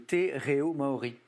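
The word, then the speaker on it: te reo Māori: Corrigez-moi pour la prononciation. Hein, le te reo maori.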